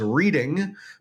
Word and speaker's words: Reading: afternoon in Reading, Pennsylvania, spelled deceptively as reading, but all the locals know that it's pronounced Reading, so make sure you